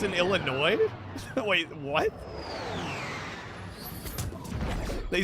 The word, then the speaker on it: Illinois: I have never once heard I have never once ever heard anyone say illan noise unironically.